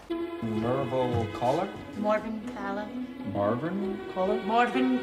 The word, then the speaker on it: Callar: you got Mor CER Mor caller caller caller that's good I there was a